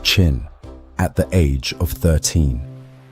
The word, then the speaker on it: Qin: He became king of the state of Chin, pronounced Chin at the age of 13.